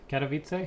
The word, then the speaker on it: Katowice: it'll be announced before Khadem can of wife Katowice how do you pronounce that Katowice so I've been pronouncing it